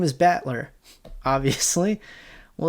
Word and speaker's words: Battler: It's made up of the characters fight and person, and it's pronounced Battler.